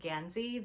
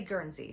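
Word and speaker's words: Guernsey: And you'll hear some people pronounce it Ganzy.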